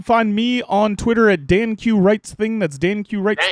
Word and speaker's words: Danq: And guys, you can find me on Twitter at DanQ Writes Thing. That's DanQ Writes Thing singular. Danq. It's actually Dank. Yeah, it's pronounced Danq. Dank.